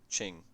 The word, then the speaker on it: Qing: Is it Ching? Qing? Ming? I've forgotten how to pronounce QIs in or QIN I guess in like Chinese dialects. Fuck. Qing. It is Qing, right? So this would be Qing Yang.